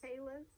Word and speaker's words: Los Feliz: Oh, it's spelled F-E-L-I-Z. Well, It could be Feliz. Las Las- Vegas. Las- Feliz. Feliz?